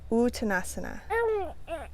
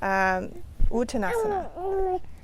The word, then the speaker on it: Uttanasana: Uttanasana or Uttanasana, dropping the A.